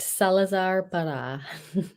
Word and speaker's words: Salazar Parra: and how do you pronounce that uh you pronounced it correct Salazar par oh but that seems so much better Salazar par the Magnificent Tada Tada yeah hey I like